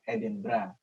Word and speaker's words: Edinburgh: Karena saya sudah 2 tahun lebih ini tinggal di sebuah kota di UK, namanya kalau cari di Google mungkin Edinburgh gitu, tapi kalau orang sini bacanya Edinburgh.